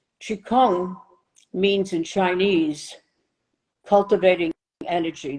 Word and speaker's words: qigong: 5 000 years old it's spelled q-i-g-o-n-g it's a different Chi it sounds the same qikang means in Chinese cultivating